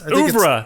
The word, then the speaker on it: oeuvre: Oeuvre, there we go.